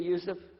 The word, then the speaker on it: Yusuf: itah my name is Yousef can you say Yousef you say Yousef very good I wish You' teach my wife she keeps mispronouncing it she calls me useless alhamdulillah